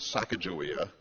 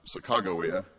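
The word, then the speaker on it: Sacagawea: and grandparents would have known that name as Sakajawia. Uh but the current pronunciation is now Sakawa.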